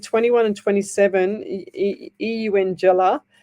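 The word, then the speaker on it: Eungella: So Karen Baker, she said 21 and 27, Eungela, like saying young Ella. That's how you say it.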